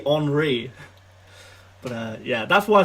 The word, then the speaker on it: Henri: I thought his name was Thierry Henry for a few years, because like as a little English kid, it's spelt like Henry. I had like friends called Henry. Why on earth would that be Henri?